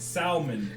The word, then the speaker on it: Salmon: It's pronounced salmon. It's salmon? Yes, that's why I said salmon.